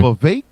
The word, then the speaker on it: Vivek: Vivek, his name is not pronounced Vivek, it's pronounced Vivek. Like it rhymes with snake. That's how I remember it.